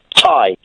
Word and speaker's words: Ty: Ty. Ty? Yeah. As in round the neck? As in round the neck, but spelt differently.